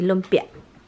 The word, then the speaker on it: lumpia: Guys, Tommy would say lumpia. Lumpia. Nahan, that's really a word. Yeah. Lumpia. Lumpia. Yeah, good. A heavier accent on the end of that word.